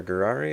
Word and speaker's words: Gurari: Gurari. It's pronounced like Ferrari with a G, so Ferrari, Gurari.